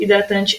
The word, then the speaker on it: hidratante: vocês vão perceber que a letra H, ela não é pronunciada, ou seja, mesmo sem letra, a pronúncia dessas palavras seria a mesma. Então, se eu pegasse essa listinha e tirasse a letra H, eu ia ter hálito, helicóptero, hidratante, hotel e humano do mesmo jeito.